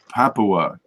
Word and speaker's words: Papua: I can't say that how do you say Papa New Guinea Papua happily yeah that's before it becomes a larva